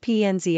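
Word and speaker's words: Penzias: his son David said Dr penus pronounced pnz as shared one half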